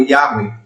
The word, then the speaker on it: Yahweh: O tetagrama sagrado, a pronúncia soa como Yahweh.